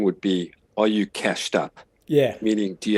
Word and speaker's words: CashD: think the growth is today so it's not cash d but cashed that's exactly right now a lot of people do say cached d however um the correct pronunciation is cached oh well i'm glad i'm glad we sorted